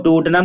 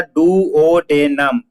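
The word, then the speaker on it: duodenum: हुआ था पेरिस्टेलिसिस मतलब होता है, इसको प्रॉपर प्रोनाउंसिएशन कैसे पढ़ेंगे, पेरिस्टालिस, पेरिस्टालसिस, ठीक है, पेरिस्टालसिस होता है। और डूडनम को क्या पढ़ते हैं बेटा, डुओडेनम, डुओडेनम कहते हैं।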